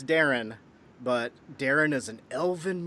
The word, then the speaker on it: Daeron: I was like, no, it's actually Daeron.